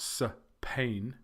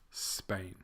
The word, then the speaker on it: Spain: Greece Lao and Spain it's not so pain its Spain countries with two syllables